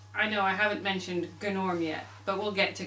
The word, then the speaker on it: Gnorm: I know we all say it's gnome and it should be norm, and even though there's a G, it's a silent G. Now, according to Gnorm in the film, it is pronounced gnome and Gnorm.